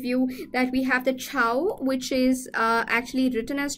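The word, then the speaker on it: Chhau: exam point of view that we have the chow which is actually written as child but pronounced as Chow right which is a popular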